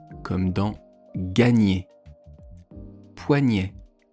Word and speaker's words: poignet: Poignet.